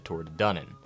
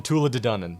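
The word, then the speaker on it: Tuatha Dé Danann: eventually kicked out by the Tor dunnan I hope I'm pronouncing that correctly hold on the Tula dunnan yeah all these guys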